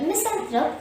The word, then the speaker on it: misanthrope: not hard to them the word misanthrope contains three syllables miss the last syllable has a schwa here so say or throw and the first syllable miss is a stressed and so say miss and thread miss and third misanthrope to sum up a